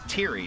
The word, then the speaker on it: Thierry: So he pronounces it Thierry, not Theory.